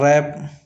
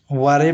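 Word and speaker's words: wrap: उसी प्रकार रैप वारेप नहीं पढ़ते।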